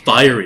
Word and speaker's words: fiery: this word wrong fiery fiery it's spelled Fury uh because it's not like fire y it's like FEI anyway uh the the